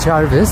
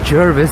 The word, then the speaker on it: Jervis: This is not Jarvis, this is Jervis. They spell it with an E over here compared to Jarvis Street in Toronto.